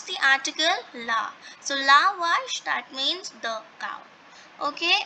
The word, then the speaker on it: vache: So again that same formula, that A is with V, so we will not pronounce V as way. We will pronounce V and A together. That would become va. So VACHE will become what? It will become wash.